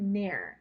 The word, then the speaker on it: ne'er: That word ne'er, N-E apostrophe E-R, that kind of sounds like the word never.